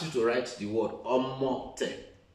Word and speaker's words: omote: What if I ask you to write the word Omote? Omote. Omote. You can see that O. The moment you break the syllables, we are able to get clearly the pronunciation of omote.